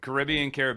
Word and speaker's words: Caribbean: I've heard it both ways. It's Caribbean. It's one of those words that if you do the job, just get clarity from the client of how they like it to be pronounced, because I've heard it used so many different, well, two different ways.